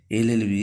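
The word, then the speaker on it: LLB: article হলে ঠিক হতো এল এলবি এর উচ্চারণটা এল হচ্ছে তাই এটা হবে যে অ্যান এলএলবি question two Mount Everest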